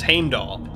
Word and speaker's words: Heimdall: I mean, I know I'm gonna get crap for pronouncing it Heimdall, but I actually found there is a video by Jackson Crawford, and he does actually say the name. He says Heimdall.